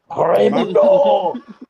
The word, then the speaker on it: Raimundo: rolling the R's when you say his name. Oh my God. Raimundo.